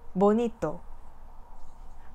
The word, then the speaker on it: bonito: 예를 들어 보니또와 같은 단어는 뒤에서부터 두 번째 음절에 자연적인 강세가 발음되는 단어인데요. 이때 강세를 가지는 음절을 다른 음절에 비해 반음 정도 높은 소리가 난다는 얘기죠. 자, 그러면 이번의 주어진 규칙에